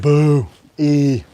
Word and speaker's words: Buoy: Master buy buoy yes how do you pronounce that trail Master buoy buoy like Boo E and hold on let